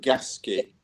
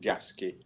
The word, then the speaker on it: Gasquet: It's called it's pronounced Gasquet. Gasquet, but it's spelled Gasquet. You think in French it'd be Gasquet, but it's actually pronounced Gasquet.